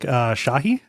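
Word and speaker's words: Chahi: His name is Eric Shahi. I think is how you pronounce that. You can never pronounce French correctly. You can never be French enough for them. Cha or Shahi. Shahi, yes.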